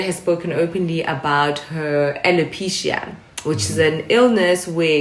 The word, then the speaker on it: alopecia: because she's going through uh she she has alopecia is that how you say it yeah she has alopecia okay so jada was was was obviously annoyed